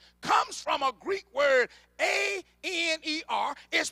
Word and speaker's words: aner: This term husband comes from a Greek word, A-N-E-R, is pronounced aner.